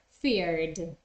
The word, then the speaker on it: feared: British or American English remember that the main difference between them is that in British English people don't pronounce the r at the end of a word so they're going to say fear and the pronunciation is the same yes of of the past feared or in American English you will hear the r fear feared okay but in both